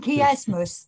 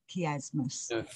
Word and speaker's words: chiasmus: And chiasmus, that's spelled K-E-Y, chiasmus.